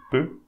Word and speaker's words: peux: Don't pronounce the X here, so peu.